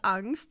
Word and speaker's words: Angst: English word because that's a German word which is pronounced angst which means um anxiety